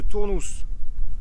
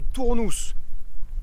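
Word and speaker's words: Tournoux: joli petit village de tournous première chose vous l'urez remarqué j'ai toujours dit tournou grosse erreur l'info vient d'un local et ça se prononce tournous ou tournous les gens du cru l'appellent tournous sorte de patoi bref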